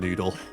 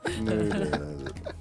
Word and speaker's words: Germknödel: Gunkernoodle. Which version did we have? The Gunkernoodle. sweet order. The Gunkernoodle. sweet. Gunkernoodle. No, it's like this. Germ- Germknödel. Like this.